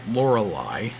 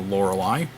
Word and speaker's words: Lorelei: When I pay $12 for the Lingmo Lorelei, and yes, that's how I'm going to pronounce it, because that's how the song by Styx pronounces it. Lorelei, let's live together.